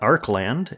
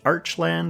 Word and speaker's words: Archeland: Arc land and yes I guess we're going with Arc land the way it's spelled in English with the E after the arch makes it look like it should be archland or archland but I saw some translated stuff directly from the Korean it has that hard